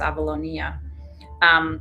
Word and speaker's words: Avalonia: Avalonia, it's hard not to pronounce it in Greek, it's Avalonia, was attached originally to Gondwana at the point where Africa is located.